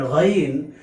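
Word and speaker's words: غين: Because when we pronounce the letter Ghain, we hear the similar sound at a time when we gargle with the hot water or salt water. Therefore, we say the letter Ghain has a gargling pronunciation.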